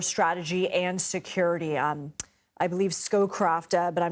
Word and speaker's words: Scowcroft: I believe Scowcroft, but I'm not sure if I'm pronouncing that correctly.